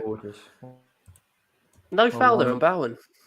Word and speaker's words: Bowen: No foul there on Bowen. Bowen. His name is fucking Bowen. I said it. Like T-Rex lead singer Mark Bowen. The author Rachel Bowen.